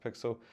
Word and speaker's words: PXL: but it is spelled pxl um how to pronounced pixel so they launched not that long ago but